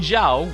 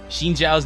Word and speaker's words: Zhao: And yes, it's actually pronounced Zhao. Xin Zhao's name is pronounced Xin Zhao, not Xin Zhao.